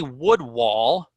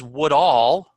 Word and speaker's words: Woodall: on the rise and I say I have Tony wood wall when his name is wood all wood all with root stock and